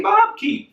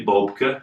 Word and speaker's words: Bobke: I tried to correct everybody that said hey Bob key and I would say no it's actually Boca but then I would have to go into